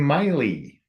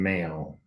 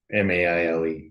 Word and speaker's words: Maile: It's our YouTube listener is Hawaiian Miley, not Hawaiian Mail. Maile. Yeah. So sorry about that. Darn it. Yeah. Yeah, we should know better. We pronounce all the vowels in Hawaiian, but some of them are pronounced a little differently even than what we expect.